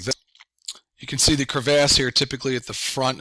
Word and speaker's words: crevasse: a general idea um this word is actually pronounced crevasse it could also be called crevices um but you can see